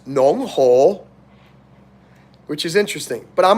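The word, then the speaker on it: 侬好: So in Shanghai, it's not ni hao, it's nong ho, which is interesting.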